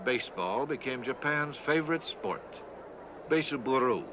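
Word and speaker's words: ベースボール: Beiseburu, as they pronounce it.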